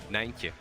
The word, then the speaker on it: Nijntje: Nijntje. Nijntje. There you go. You can pronounce it.